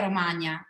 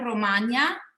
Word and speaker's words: Romagna: in the middle, and Romagna, which is not that easy to pronounce because of that GN, in the name, is the southern part that is that has on the right side the Adriatic coast.